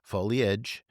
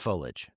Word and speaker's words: foliage: And I do love that the Miriam-Webster dictionary there's two ways to pronounce foliage, foliage and foliage, both of them.